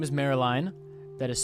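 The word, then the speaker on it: Maryline: So his mom's name is Marilyn, that is spelled M-A-R-I-L-I-N-E, Marilyn Ignotus.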